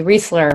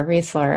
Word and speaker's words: Reisler: was pronouncing them incorrectly Reisler Reisler okay so it sounds like Paul Reiser who I love free I like this store I always say REI like the store I think it's a Reisler calm forward slash Journal